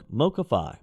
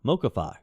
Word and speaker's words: MoCaFi: called Mobility Capital Finance MoCA MO mocafi mocafi is how they're pronouncing it uh this would create